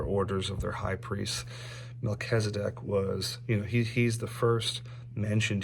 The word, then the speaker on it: Melchizedek: I know how to pronounce that one. So Melchizedek, he's actually referenced in the New Testament as well.